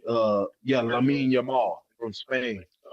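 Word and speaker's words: Lamine Yamal: Uh uh what how you pronounce his name? Uh yeah, Lamin Yamar from Spain.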